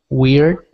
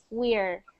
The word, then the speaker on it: weird: The reason you want to make sure that you get that one right is because you don't want it to sound like this. We're. You don't want it to sound like that word, which means we are. You don't want it to sound like we're. So it's weird. Weird.